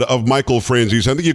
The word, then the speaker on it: Franzese: you said of michael franzis i think you called him friends easy i think you pronounced it more italian than we do now but uh you said